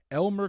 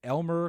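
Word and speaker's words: Eimear: linda martin nyam kavanaugh paul harrington charlie mcgettigan elmer quinn no elmer quinn is the last one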